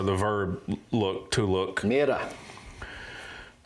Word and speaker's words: Mirar: verb look to look miror miror that's pretty much how they pronounce it in French uh they're going to